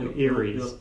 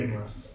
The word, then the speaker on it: Emrys: Old Ares. Ilra for you and Old Ares for you. Emrys.